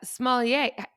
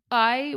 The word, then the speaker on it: sommelier: So, little known fact, we got a proper sommelier.